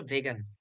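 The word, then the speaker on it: vegan: আরেকটা ওয়ার্ড আছে ভেগান মানে একচুয়ালি এর উচ্চারণ হচ্ছে ভেগান ঠিক আছে ভেগান মানে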